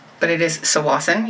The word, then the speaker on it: Tsawwassen: The earthquake that just happened today was just off of Tsawwassen, but it is Tsawwassen, you don't pronounce the T, which is where I